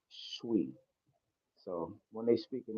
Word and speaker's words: Twi: Uh, Shui, I think it's called Shui. It's spelled like it's pronounced Twi, but it's actually Shui.